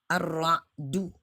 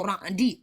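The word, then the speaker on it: الرعد: Ar-Ra'du. Makanya saya cenderung membacanya Ar-Ra'du. Karena tercantum dalam ayat ke-13. Walaupun saya bisa menerima ada orang membaca suratul Ra'di.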